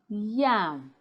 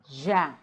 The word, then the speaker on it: yam: them politely excuse me it's pronounced yam not Jam it's pronounced University not